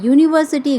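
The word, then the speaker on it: university: परंतु उच्चारण करते समय हम जब यू का उच्चारण या यूनिवर्सिटी का उच्चारण करते हैं तो यह या में बड़ उ की मात्रा के रूप में प्रकट होता है जो कि हिंदी का व्यंजन है।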